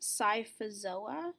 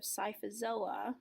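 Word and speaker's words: Scyphozoa: so jellyfish are under the class this is pronounced psifas OA psifas illa and so the main characteristic of psifas OA or jellyfish is that as you can see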